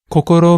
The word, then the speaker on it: kokoro: okay call call no kokoro means heart this word has three syllables all of which have